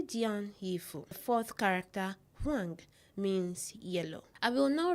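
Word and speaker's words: 黄: The fourth character, huang, means yellow. I will now write the word Togo in Chinese. It is pronounced juoge.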